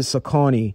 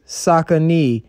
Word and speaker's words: Saucony: pronouncing the name and most people called it sakani so to teach their customers the correct pronunciation saucony would have the phrase sakanee printed directly onto their shoeboxes they were known